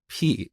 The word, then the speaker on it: pi: as P instead of Pi and um believe it or not to this dat people make fun of me for saying P instead of Pi but that's how we learned this back in Iran we we pronounce it